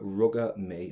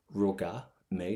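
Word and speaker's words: Rugadh mé: to start off with ruga may now pronunciation wise you can just go as far as the letter A if you want and you can use this Roga May that's perfect and what I have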